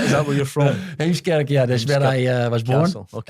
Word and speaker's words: Heemskerk: Hemskirk Castle or Hamilton Palace? Your pronunciation is really good, to be honest. So what is that? Is that where you're from? Heemskerk, that's where I was born.